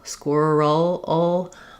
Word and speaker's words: squirrel: So even though we spell that vowel with letter E in this word, it's really more of an sound, squirrel, or even an sound, like in pull or wool.